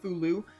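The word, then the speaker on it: Fou-lu: that his name that's how you say it fulu I like the um the F the folian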